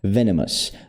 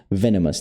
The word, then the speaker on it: venomous: Esse aqui é o sonzinho do chuá. Som do chua. Venomous. Venomous. Tem três vezes esse som aqui na palavra.